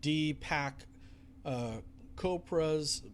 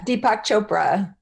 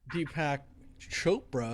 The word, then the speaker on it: Deepak Chopra: if as well with d pack copra's pardon me i'm not maybe not pronouncing that name right yeah deepak chopra deepak chopra okay you'll find my